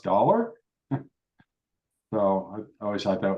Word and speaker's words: daalr: It wasn't on purpose, but that's pronounced dollar.